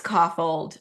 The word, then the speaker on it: Kaufhold: Okay, so Um, yeah, so So Brady So Ellison and Casey Kaufhold, who Kaufhold is the correct pronunciation, right? it's Coffold.